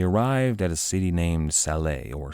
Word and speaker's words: Salé: They arrived at a city named Salé, or Salih. The English pronounced it much like the name Sally.